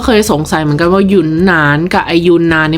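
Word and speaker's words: 云南: กัน บ้าง นะ คะ จริง ๆ แล้ว คำ เ มัน ต้อง อ่าน ว่า หยน หนาน นะ คะ แต่ ว่า คน ไทย หลาย ๆ คน เนี่ย ก็ เรียก ว่า ยูนาน เมื่อ ก่อน เรา ก็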